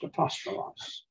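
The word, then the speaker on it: ἀπόστολος: The smooth breathing looks like a forward apostrophe, and it's not pronounced. The word apostolos is pronounced apostolos. I skipped this too.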